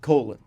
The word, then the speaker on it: Colin: Campbell by the way his name is spelled Colin hmm he chooses to be called colon which is not a thing I would do hi Colin's not the